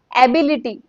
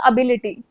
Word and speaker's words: ability: I have seen people saying एबिलिटी और यह कितना कॉमनली मिस प्रोनाउंस्ड है। तो ये एबिलिटी नहीं होता। This is एबिलिटी। ए नहीं अ।